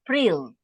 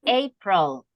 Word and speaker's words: April: it's not Pril. It's April. April.